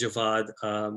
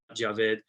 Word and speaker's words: Javed: I already need to make a correction, so it's Javed. I know I spell it funny, but it is Javed with a V and an A, not Javed.